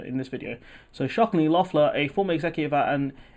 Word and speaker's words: Loeffler: So Georgia Senator Kelly, I think her name is pronounced Loeffler, was also at the meeting with Burr.